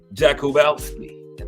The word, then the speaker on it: Jakubowski: Marty Jakubowski. That's how you pronounce it too. Syllabalize it on out.